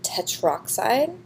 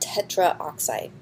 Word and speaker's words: tetroxide: in 204 stein nitrogen tetroxide not tetra oxide get rid of this a it would it's too hard to pronounce they will put two